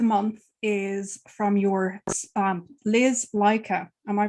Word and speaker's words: Laika: So the book of the month is from your Liz Leica. Am I pronouncing her name correctly? Liz Leica? Yes. I believe I have to always have to check. It is Laika is a reference to the first dog who was sent into space.